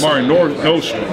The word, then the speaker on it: Mare Nostrum: Mare Nostrum.